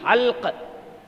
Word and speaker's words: حلق: وہ، حلق، حلق نہیں، حلق. وہ سعدی نے کہا نہیں، گہش دیدنے ایش شیرین خلق فرومی شدے آب تلخش بحلق لا حلق. تلفظ کیا ہے اس کا؟ حلق. جی حلق، فرومی شدے آب تلخش بحلق.